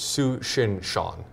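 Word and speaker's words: Tsuchinshan: least Google translate uh the t is silent so it's suin Shan yesan say that five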